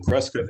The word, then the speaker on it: Prescott: in the twin cities and martha lives in prescott arizona she'll be happy to know that i pronounced prescott correctly she taught me to do